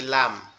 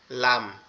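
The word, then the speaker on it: لام: ওকে, তারপরে হচ্ছে কি লাম, লাম, লাম। লামটা হচ্ছে জিহ্বার আগা, তার উপরের তালুর সঙ্গে লাগায়া লাম।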